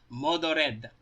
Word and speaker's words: Mordred: is literally how her if you write her name in Japanese that's literally how it is pronounced maldo dead so yeah that's that's